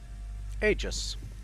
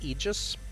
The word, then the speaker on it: AIS: wanted to go well AIS actually I believe it's pronounced Eis but uh we all